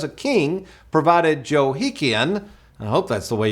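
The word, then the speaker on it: Jehoiachin: verse 30 where it says a king provided Joe hekin I hope that's the way you pronounce that uh it's pronounced jehoi again dude a daily portion for the rest of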